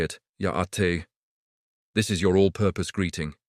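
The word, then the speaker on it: Yá'át'ééh: It's Ya'ate. Notice the high tone on the te part. Try it with me, Ya'ate, fantastic.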